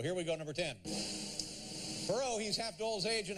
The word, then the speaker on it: Perot: Perot, he's half Dole's age and half Clinton's weight. Number 9. Don't pronounce the T, but do pronounce him insane.